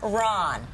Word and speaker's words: Tamron: got Tamar oh Tam Tamron Tam Ron run like run Tam Ron okay Tam